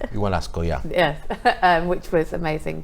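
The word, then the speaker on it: Ischigualasto: went to the Valley of the Moon, or Igualasco, is that right? Igualasco, yeah.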